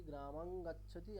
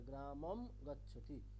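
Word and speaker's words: গ্রামং গচ্ছতি: ম বাংলাতে আমরা যেমনটা করি গ্রামাং গাচ্ছতি এমনটা আর বলবো না। আমরা কি বলবো? আমরা এবার থেকে জানবো যে অনুস্বার ইজ অলওয়েজ আমাদের কাছে ম। তাহলে গ্রামম গচ্ছতি।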